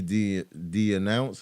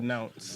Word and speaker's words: denounced: he de-announced. Is that how you say it? De-announced. Denounced.